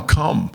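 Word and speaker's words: Kum: But also, like she said, it's Kamok, but all the family members call my mom, it's spelled K-U-M, So everybody calls my mom Cum.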